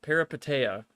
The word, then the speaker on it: Peripeteia: Peripeteia.